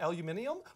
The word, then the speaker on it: aluminium: But you know, we also say we say aluminum instead of aluminium. But the reason is because we spell it differently.